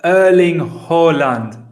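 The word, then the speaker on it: Erling Haaland: what is it uh you're supposed to say irling ho holland uh erling holland that's tough that one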